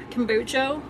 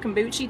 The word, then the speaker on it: kombucha: citrus sunrise and it's i never say it right but i always say it wrong kombucha i call it kombuchi tea it's um flavored